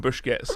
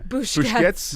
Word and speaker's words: Busquets: from Busquets, and I want just to read it because I think Bertie might appreciate this quote.